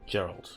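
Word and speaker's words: Jeralt: Geralt, yeah, that's how you say it.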